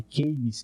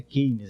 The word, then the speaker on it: Keynes: O Roberto Campos sempre fazia questão de corrigir a pronúncia das pessoas. Quando a gente falava de Keynes, que é como no Brasil se chama, ele dizia, não é Keynes, é Keynes.